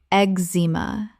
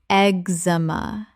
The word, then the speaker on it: eczema: naw-zha nausea Word 54: eczema Common mispronunciation: ek-zee-muh Correct pronunciation: ek-zuh-muh The cz makes a simple x sound. Three syllables.